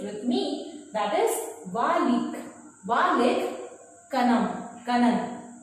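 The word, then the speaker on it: Vallikkannan: So you will pronounce it with me. That is Valik. Valik Kanan. Right? Valik Kanan.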